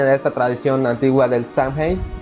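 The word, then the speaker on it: Samhain: esta tradición antigua del sunheim o sandway como se pronuncia originalmente Pero bueno Mr James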